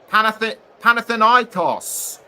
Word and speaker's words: Panathinaikos: And Mladenovic plays for Panathinaikos. Or is it Panathinaikos?